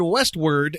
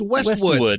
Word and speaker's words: Westwood: voice first he said Westward and Wilshire it's pronounced Westwood there's no r in it and if you watch